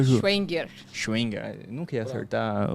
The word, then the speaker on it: Schevenger: Como que se pronuncia, Ju? Schwenger.